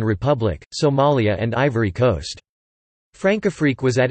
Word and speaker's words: Françafrique: Francafrique, French pronunciation, F-Safique, is France's relationship with its former African colonies.